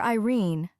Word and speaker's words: Irene: My daughter Irene, said Mrs. Carstyle, she made it rhyme with tureen, has had no social advantages, but if Mr.